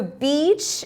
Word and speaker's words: beach: If you guys pay attention, the direction of the movement for e and i is opposite. I is up and down, e is left and right. So, if they just think of it like this, they could probably pronounce beach better. But, also the timing of saying the word is faster. So, beach is a longer sounding word.